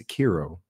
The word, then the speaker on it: Sekiro: I'm not pulled my weeb card, and he said that I'm not pronouncing it correctly. So it's Sekiro.